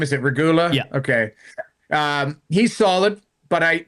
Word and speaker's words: Regula: Regula, is that how we pronounce his name? Is it Regula?